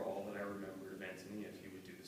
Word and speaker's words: Ántonia: It's actually pronounced Ántonia, as she makes a big point of, but it's just so in our culture as Ántonia, I can't bring myself to pronounce it properly.